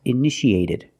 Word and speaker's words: initiated: In the past, initiated. The second T is between vowels. So, we pronounce it like a fast D. Ed initiated. Initiated.